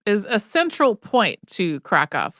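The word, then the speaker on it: Kraków: a central point to krov which I think a lot of English speakers may have also heard pronounced kov it sits at 228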